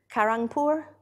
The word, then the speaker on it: Kharagpur: it's a common name he's the one from Kharagpur did I say it right yes I'm poor